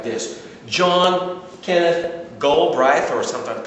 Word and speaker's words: Galbraith: John Kenneth Galbraith, or sometimes pronounced Galbraith, A Short History of Financial Euphoria.